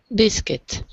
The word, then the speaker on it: biscuit: The lobby, The lobby, puppy, puppy, biscuit. biscuit. We don't say the U in biscuit. So it looks like quit, but it's pronounced kit.